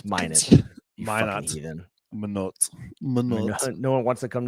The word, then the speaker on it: Minot: no one wants to come to manote it's minote no one wants to